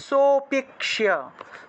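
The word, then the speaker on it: সোঽপি: হবে লুপ্ত অ এর উচ্চারণটা মূলত একটু টান দিয়ে উচ্চারণ করতে হয় অর্থাৎ আগের যে স আছে এই স টাকে যদি একটু টান দেই তাহলে অটোমেটিক ভাবে একটা অ এর উচ্চারণ চলে আসে আর এই অ এর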